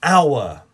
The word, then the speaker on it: hour: a unicorn our an hour the first letter is a h but the sound is silent look at the next